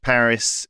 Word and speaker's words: Paris: That's how they So you're saying that in English Paris is Paris and in French Perry is Perry. So you're not you're speaking French if you say Perry.